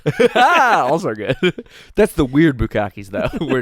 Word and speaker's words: bukkake: That's the weird bukkakes, though, where it's like 40 guys. My bukkakes max out at 8. You're pronouncing that wrong, by the way.